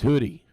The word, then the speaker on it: Huddy: It's pronounced Hoodie.